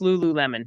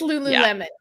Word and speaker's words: Lululemon: name of that brand uh lulan is that how it said lul Lululemon I'm sorry it's Lululemon my bad I don't know I I thought maybe I've been saying it wrong no no it's Lululemon okay that just shows